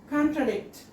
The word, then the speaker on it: contradict: Fourth word, contradict. IP pronunciation is con contradict. Here you can see the symbol above above and before the stressed syllable, okay? This means the third syllable is to be stressed.